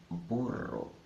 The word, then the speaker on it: burro: Rosa a sing drink'll when you see a double are in the middle of the word always sounds there as in burro there is an exception